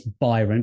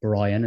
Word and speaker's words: Byron: the links um and it's it's byron b-y-r-o-n not brian as as we had